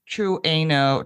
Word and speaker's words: Trueno: It's not true. No, it's Trueno. Trueno. My son says, he's an anime guy. Yes. That you say every single letter in Japanese.